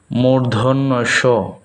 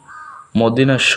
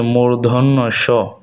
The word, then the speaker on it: মূর্ধন্য স: মূর্ধন্য স, মূর্ধন্য স। আমরা অনেকেই এটাকে মদিনাস্য বলে থাকি, আসলে এটা হচ্ছে মূর্ধন্য স।